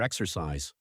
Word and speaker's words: exercise: The stress is on the first part.